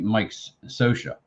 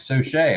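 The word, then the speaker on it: Scioscia: him Chris spear yeah I used to call Mike sochier Mike Sosha uh that's what I thought his name was is Mike said but now once he made manager I think it was of the Marlins somebody he was a manager of a few years ago and they're like so Shay I was like ah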